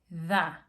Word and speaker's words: the: Bueno, si después de the, T-H-E, tú ves que la siguiente palabra comienza con una consonante, digamos, planet. planeta, ¿ok? THE, planet. Entonces, el sonido va a ser the planet.